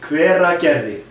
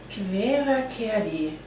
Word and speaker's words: Hveragerði: Hveragerði. Hveragerði.